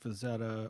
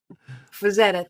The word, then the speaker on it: Frazetta: I can never Frank say his name Frazetta. correctly. That's okay. That's okay. Fazetta, thank you. I keep putting R's in there for some reason. Frank And extra Z's. I don't know why. Frazetta.